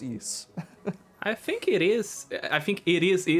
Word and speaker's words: Ys: next game in the yeast franchise I think that's how you pronounce it is it East it's just spelled Ys but I've only ever heard it pronounced East okay it is I